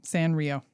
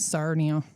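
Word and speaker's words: Sanrio: San Rio. I I always thought it was Sarnio.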